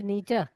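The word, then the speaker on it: Nietzsche: एक फ्रेडरिक, ये क्या है, इसको प्रोनाउंस कैसा निश्चय करते हैं? शेख फ्रेडरिच नीचा।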